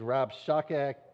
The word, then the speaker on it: Rabshakeh: This is the leader of this little gang of messengers is Rabshakeh. I'm going to get his name wrong 100 times.